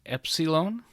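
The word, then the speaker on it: Έψιλον: letter we have is Epsilon and it is pronounced like the E and met after that we have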